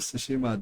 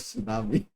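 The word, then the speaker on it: Tsushima: Uh speaking of ghost of sushima though because I was not able to pronounce or understand the names at first that much properly. I used to call it ghost of tsunami. I'm sorry.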